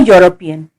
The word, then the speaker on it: European: A European. Here the word begins with the consonant sound year, as in the word U.